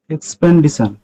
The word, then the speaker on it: expedition: expedition এন নেই এখানে, এখানে এন নেই কিন্তু।